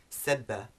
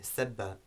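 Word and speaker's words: سبّ: which begins with seen, sebba. But then we have sobba, which begins with sad, as you can hear, it's a heavier sound, which means to pour water.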